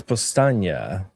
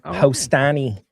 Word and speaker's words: Powstanie: Yeah dude, it's Pastania. It's not Hostani. Pastania.